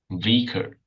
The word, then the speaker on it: vicar: scholar, vicar, Vicar. and Vicar. vicar. Oh, shit. Short I sound. Vicar and cigar.